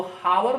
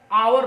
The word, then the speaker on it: hour: तो HOUR इसको हावर नहीं पढ़ते हैं, आवर पढ़ते हैं, ओ आ रहा है ना, तो क्या प्रयोग होगा, एन होगा, ठीक है।